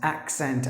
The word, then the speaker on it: accent: C sound in English instead of C the first C gives the sound of K and the second C gives the sound of s accent otherwise and one of